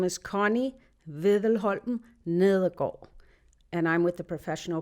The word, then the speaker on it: Nedergaard: So the spelling of that is Connie, C-O-N-N-I-E, and then capital N-E-D-E-R-G-A-A-R-D. That's right. Is that correct? That's right. All right. And then pronounce it one more time.